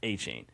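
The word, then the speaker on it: Etienne: So, those of you that didn't hear, uh, Travis ETN had his introductory presser with the Saints and he's revealed that apparently this whole time his last name has been pronounced Aane, which makes no sense.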